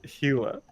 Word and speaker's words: Gila: kill a gorilla it's it's in spanish you pronounce it hela what other g word